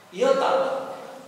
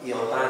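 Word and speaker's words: Ιώτα: seperti kata teologia kemudian Yota y nah y pengucapannya Yi ta Yota tapi kalau kita sebut iota gitu aja sudah boleh gitu ya kemudian translitrasinya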